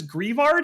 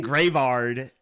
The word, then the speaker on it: Greavard: Greavard? Is that how you pronounce this? I've been saying Gravard. Gravard, probably like graveyard.